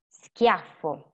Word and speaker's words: schiaffo: And then schiaffo, scuro e muscolo are hard sound, suono duro, that sound like sk.